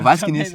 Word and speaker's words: Waskienicz: Bom, basicamente sou Vasquiniski, né? O último nome é mais Eu complicado. nunca consegui pronunciar. É Vasquiniski. Também não. Cara, Vasquiniski.